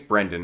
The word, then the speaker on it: Brendan: First of facts, um, thanks to Brandon 371 on Instagram, who is a cool ass And I think it's Brendan, not Brandon.